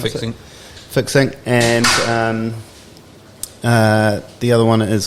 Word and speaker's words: Fixinc: Is that how you pronounce Fixinc. it? Fixinc.